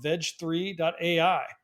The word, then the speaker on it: Veg3: how we pronounce it what I like is veg3 it's a little bit of a on Words With gpt3 which is the underlying technology